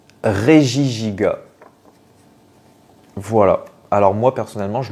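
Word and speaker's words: Regigigas: donne encore deux possibilités est-ce qu'on dit parmi les deux donc il y en a bonne réie gigas ou régie giga et bien on doit dire régie giga voilà alors moi personnellement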